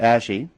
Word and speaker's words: ASHI: ASHI.